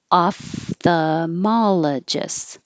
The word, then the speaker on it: ophthalmologist: were so many options ophthalmologist this l in the middle you don't have to say and this pH you